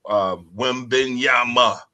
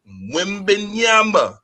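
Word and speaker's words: Wembanyama: But first and foremost, we got to talk about Wembenyama. That's how you pronounce it. Enunciate Wimbenyama.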